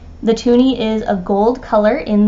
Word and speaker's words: toonie: is also called a toonie Canadiens call it this because of its value $2 and because it rhymes with loony the tooney is a gold color